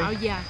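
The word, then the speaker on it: áo dài: Fait que la prononciation c'est Ao Dai, but it's Yai is like D-A-I. C'est pour ça que je me mélange un peu parce que les autres ils l'écrivent Ao, A-O, espace D-A-I.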